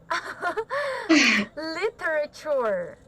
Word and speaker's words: literature: one okay it's like literature literature okay so i told you that the ending sound of it is a ch cha so it's like littera chore chore sure yeah okay